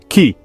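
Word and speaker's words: き: However, Japanese already had a word for tree, ki. Both the Chinese and the Japanese pronunciations ended up being used to mean tree.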